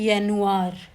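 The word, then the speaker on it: Januar: जैसे जनवरी को यह कहते हैं जेनुआ, फरवरी को फेब्रुआ, मार्च को मार्च, अप्रैल को अप्रैल।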